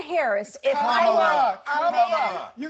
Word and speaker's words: Kamala: So pronounce her name And right. Kamala Harris, if Kamala, I Kamala, you said I it will 20 say times.